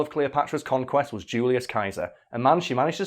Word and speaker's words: Caesar: It just says in English it's pronounced with a soft C, but the original Latin is pronounced similar to the German word Kaiser. Yeah, Julius Caesar.